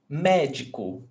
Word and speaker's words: médico: And the stressed syllable is not the last, not the one before last, is the one before that one. So the antepenultimate syllable.